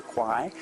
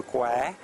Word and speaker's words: Kwai: Bridge Over the River Kwai, which is the way we pronounce as foreigners, which is mispronounced. It's actually River Kwai.